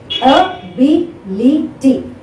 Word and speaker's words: ability: Ability. 1, 2, 3, 4. This is 4 syllable word.